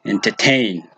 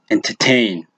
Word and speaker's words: entertain: And some on the side, as in, look at the word entertain. Entertain.